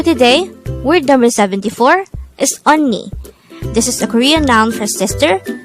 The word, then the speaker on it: 언니: 74 on me this is pronounced as a two-syllable word the first syllable is on the second syllable is knee only pronounce it with me onni the word onni is